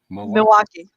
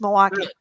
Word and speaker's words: Milwaukee: And the L is silent in Milwaukee, by the way. Milwaukee. It's Milwaukee.